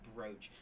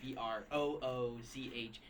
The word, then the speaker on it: brooch: Like it's a brooch. I see the spelling and I refuse to believe BROOCH makes the O sound. It's ooh.